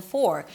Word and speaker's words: for: The word for is pronounced with the F and then the or as in for. So when the word is stressed, you want to make sure that you hear the O sound, you drop your jaw,